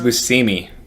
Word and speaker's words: Buscemi: It's pronounced Buscemi.